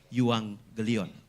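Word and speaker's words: εὐαγγέλιον: Tapi kalau bahasa Yunani G ketemu dengan K atau KH itu dibaca ng sama kayak yuang gelion tulisannya yuang gelion 2G tapi dibacanya yuang gelion itu bahasa Yunani.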